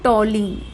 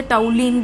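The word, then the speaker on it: toluene: इसे हम बोलते हैं टॉलीन। इसे हम क्या कहते हैं, टॉलीन। कुछ लोग इसे टाउलीन भी प्रोनाउंस करते हैं, बट टॉलीन भी ठीक है।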